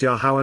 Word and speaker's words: Yahowah: 4 vowels which comprise God's name, YRR, are pronounced Yahowah not Yahweh or Yahweh.